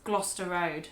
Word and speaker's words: Gloucester Road: It's Gloucester Road. Gloucester Road. It's just actually a lot simpler than you'd expect. It's just less sounds than Gloucester. Yeah, so it's the CES sound within Gloucester.